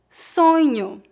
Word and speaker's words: sonho: Lembre-se que o dígrafo NH pronuncia-se aproximadamente como as letras N e nho. Observe que a vogal O é pronunciada como U no final das palavras. Não dizemos sonho, e sim sonho.